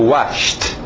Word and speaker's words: washed: E o passado, washed. Só o som de T. Depois nós vamos explicar. Escrito ED, eu sei, mas a pronúncia de um T.